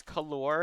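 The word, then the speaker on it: colour: them have their merits calor is uh a bit redundant because it has the uh you in it and the U isn't really pronounced but they again color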